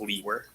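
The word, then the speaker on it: Liewer: last name it's my last name is spelled l-i-e-w-e-r and it's pronounced Lee where and where are you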